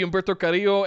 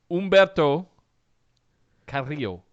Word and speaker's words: Humberto Carrillo: Humberto Carrillo. Am I saying it correctly? Yeah, it's close enough. It's good. Thank you. I rolled my R's, right?